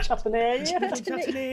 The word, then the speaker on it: chutney: The old chutney. Chutney is how it's pronounced.